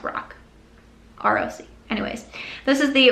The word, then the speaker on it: Roc: I think it's just pronounced Roc.